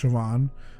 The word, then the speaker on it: Siobhan: where it looks like Sahan um but it's pronounced Siobhan it's the same thing with saan it looks